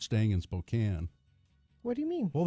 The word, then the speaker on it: Spokane: the town right there Spokane its Spokane look at the way it's spelled that's Kane they have a merry-go-round